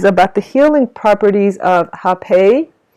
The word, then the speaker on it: rapé: the healing properties of hepei so hepe is or it's spelled r a p e with an accent so rappea or hepe it is um indigenous